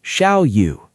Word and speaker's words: Xiao Yu: For example, my name is Xiao Yu. You can say it like Shiau.